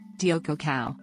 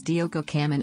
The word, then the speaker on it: Diogo Cão: Diogo cão Diogo cão Portuguese pronunciation anglicized as Diogo caman also known as Diego